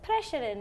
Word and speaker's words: Preseren: I mean, it's Preshaden.